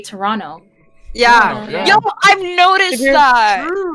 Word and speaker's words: Toronto: Canadian or like more Toronto thing, but we don't really pronounce the T's in some words. Like we don't say Toronto, we say Toronto.